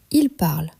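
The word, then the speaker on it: parlent: À l'écrit, c'est complexe. On a je parle, tu parles, il parle, il parle. 4 orthographes différentes avec des terminaisons différentes. Mais à l'oreille, c'est exactement le même son. Tout se prononce parle.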